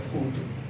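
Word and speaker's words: voodoo: fodu fodu fodu fodu ya habis tulisannya fodo v o o d o o Tapi bacanya fudu ini mempunyai berbagai jenis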